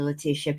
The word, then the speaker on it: Leticia: her name correctly Leticia people get mad at me when I say Leticia and I can't help it I'm Mexican and Leticia is how you'll say the name but her name's Leticia so let me say it correct correctly her correct pronunciation ltia um gonna have